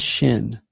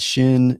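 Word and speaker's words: ש: So sin is just a regular s as in sin. And shin is the sh sound that we have in English like ship.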